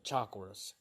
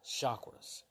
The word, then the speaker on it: chakras: of vital forces called chakras. I used to call them chakras, but I have a friend who's from India, and they told me they pronounce it chakras, like sh instead of chakras.